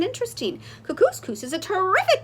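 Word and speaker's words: Kookooskoos: better the camp anyway welcome to camp cuckoos coos it rhymes with moose that's another good thing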